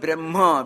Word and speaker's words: Brahma: Brahma is the word Brahma, which is a long A vowel.